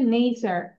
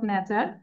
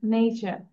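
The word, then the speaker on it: nature: আচ্ছা, your first mistake was উচ্চারণটা হবে নেচার, ঠিক আছে, নট নেচার, ইটস নেচার।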